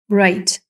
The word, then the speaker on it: right: ІГХ читається так, що звучить одна «ай». Отже, ГХ не читається. Right.